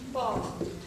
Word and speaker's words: pa: Okay, it's a long sound. That's why we also write A there. Okay, because it makes a long A sound. Ma, pa.